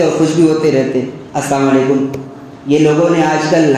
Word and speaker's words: السلام علیکم: جیسا کہ آج کل ہم لوگ بھی ایسے ہی سلام کرتے ہیں نا, السلام علیکم, السلام علیکم. صحیح تلفظ کیا ہے؟ السلام علیکم. لام کے ساتھ پڑھا جائے تو معنی ہوتا ہے